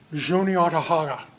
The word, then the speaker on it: Juniata: At the top there, it looks like Onondaga. That's how we would look at that and pronounce it if we just saw that. It's actually pronounced Juniata. That's where we get Juniata from.